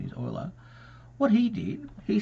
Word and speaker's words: Euler: spelled ruler with an E Euler but it's Euler its pronunciation is Euler what he did he said I wonder if